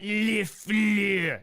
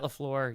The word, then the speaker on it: LaFleur: Matt LaFleur is the only way to pronounce that. Matt LaFleur, you can do it otherwise, but the only way is you have to have a pretty deep French accent when you say it, and then you're correct.